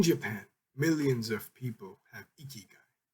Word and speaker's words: ikigai: in japan millions of people have ikigai pronounced iki guy a reason to jump